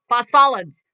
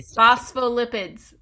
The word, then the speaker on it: phospholipids: that renee how do you say it phospho phospholids phosphates i practice this 10 times in the mirror and i phospholipids that's it that's what we got it's made